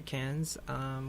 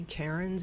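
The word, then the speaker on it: Cairns: Wow but from Sydney we traveled up to Cannes which is in the north east of Australia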